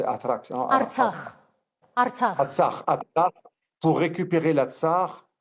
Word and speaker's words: Artsakh: le Haut-Karabakh, l'Atrax, vous l'appelez comme ça, vous prononcez Atrax, hein, Artsakh.